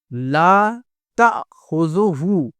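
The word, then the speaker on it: لا تأخذه: لام الف زبر لا، تا حمزہ زبر تا۔ اس کو الف نہ پڑھ کے اس کو حمزہ پڑھیں گے، تا حمزہ زبر تا، خا پیش خو، زال پیش زو، ہا الٹا پیش ہو، لا تأخذہ، لا تأخذہ۔ اس کے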